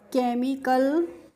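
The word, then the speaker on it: chemical: सीई एम आई सी एल को हम पढ़ेंगे केमिकल और केमिकल की हिंदी मीनिंग होती है रसायन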